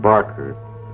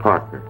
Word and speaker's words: Parker: got my name wrong it's not Barker it's Parker I got myself